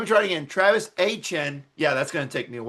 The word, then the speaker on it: Etienne: I forgot how he said it in his press conference for how it's Achan.